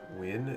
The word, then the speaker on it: Nguyen: I think it's pronounced like win, if I recall correctly. Pronounced Nguyen. It's hard to Romanize. Nguyen, okay. It's pronounced win.